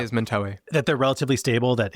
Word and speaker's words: Mentawai: Is it your sense that these shamanic practices it's Mentawai, right? I have that pronunciation right, Mentawai? Mentawai. What I say is Mentawai.